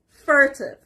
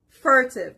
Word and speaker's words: furtive: the third word is furtive furtive the r is on the first part furtive the concept of